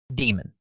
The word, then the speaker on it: daemon: an alternative spelling to demon is pronounced D-E-E-M-E-N, demon, in the context of computer software.